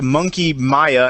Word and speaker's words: Monkey Mia: any answer that that it is actually pronounced a monkey Maya and sub monkey mia